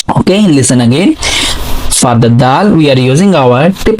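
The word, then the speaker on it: دال: Okay, so for pronouncing Dal, actually if you remember in the previous lesson we have done the origin of Ta. So origin of the Ta and Dal have a same origin and same articulation point.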